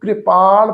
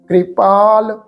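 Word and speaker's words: ਕ੍ਰਿਪਾਲ: अगम अगाध पए कृपाल न कृपाल पढ़ना है क ज सिहारी द मात्रा है पैर लगे हुए रारे न लाके प्रोनाउंस होएगी कृपाल गुसाया गुसाया पाठ है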